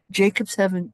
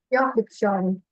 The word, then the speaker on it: Jakobshavn: And you have to pronounce it correctly for me. Jacobshavn Glacier. Yep. Jakobshavn.